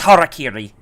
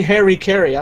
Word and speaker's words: harakiri: he and he commits harakiri yeah at least he pronounced it right I've seen people say Harry Caray I'm not even close